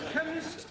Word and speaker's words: chemist: me k e n chemist does not begin with a k it sounds like it begins with k CH H but that